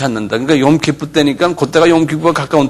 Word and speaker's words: Yom Kippur: 그러니까 욤키프 때니까 그때가 욤키프가 가까운 때 모양이에요. 예, 그런 말을 해요. 그런 식으로 한번 발음해 보세요.